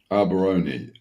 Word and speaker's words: Allbarone: Allbarone. Allbarone. It's basically all bar one are 3 words that represent a chain of medium, low.